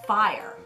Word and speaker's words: Fyre: do fire what no I know it's spelt with Y but it is fire exact time for our